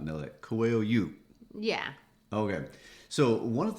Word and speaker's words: Coelho: a lot of people would not know that coil you yeah okay so one of the things that